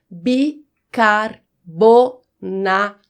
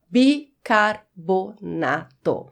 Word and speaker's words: bicarbonato: Então, o correto é bicarbonato. Só tem um rzinho aí, bicarbonato.